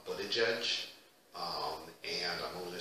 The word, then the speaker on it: Buttigieg: We have also a presidential candidate, affectionately referred to as Mayor Pete, because his last name is a bitch to pronounce. I believe it's Buttigieg, and I'm only going to say it one time, that's it.